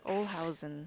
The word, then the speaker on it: Olhausen: So I'm being corrected by pronunciation of Olhausen. They say I sound like I have a D. Maybe it's because I'm from New York. I don't know. Possibly. Olhausen.